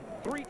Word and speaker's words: Threet: Threet is spelled T-H-R-E-A-T, and his first name is Demetrius.